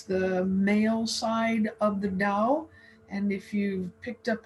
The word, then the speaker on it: Dao: spelled it differently here it's pronounced with the d according to our friends in china but it's often spelled with the t you'll find it both